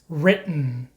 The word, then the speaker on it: written: cotton curtain in Manhattan so the way to pronounce this sound is by not releasing the T sound so keep your tongue